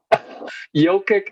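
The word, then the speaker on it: Jokić: my god they have him starting my goodness yokick a rare complete miss complete mist of the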